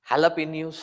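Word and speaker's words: jalapeño: they ask the Mexicans they will write it as jalapeno but pronounce it as halapin so after May it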